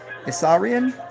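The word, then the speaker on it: Isaurian: III the Assyrian and well not like you'd spell it ISS is a u r i a n assarian they might be part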